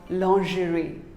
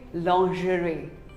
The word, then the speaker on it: lingerie: another commonly mispronounced word lingerie well most of us call it lingerie no it is not lingerie it is actually called lingerie say lingerie long jury what do you call